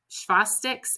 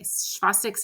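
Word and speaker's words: Chvostek: neuromuscular irritability might work and so there's um shastic and tro sign if you don't know what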